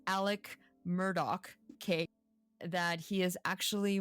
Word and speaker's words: Murdaugh: in the what I now know how to pronounce Alec Murdock cake that he is actually right now on